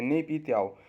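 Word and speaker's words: Naypyidaw: ठीक है, प्रोनाउंसिएशन मतलब राइटिंग में गलत हो सकता है, प्रोनाउंसिएशन ठीक है, नेपी त्याव।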